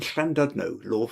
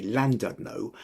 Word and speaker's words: Llandudno: If you have an LL in a word, it's pronounced that It's not a sound that comes in English. It's a it's very much a Welsh Celtic sound.